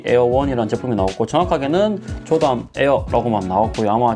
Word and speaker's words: Heir: 그래서 보시면 원래는 에어라고 적어야 되는데, 보시면 HEIR 해가지고 에어라고 나오는 발음이고, 원래 이 HIR 때는 후계자, 계승자 뭐 이런 뜻입니다. 후계자, 계승자 이런 뜻인데 발음은 또 에어라고 하거든요.